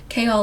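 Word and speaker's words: Chaol: Kol like chaos but with an L.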